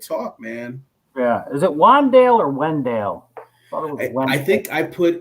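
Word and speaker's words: Wan'Dale: Is it Wandale or Wendell? Wandale, yeah, it's spelled like that.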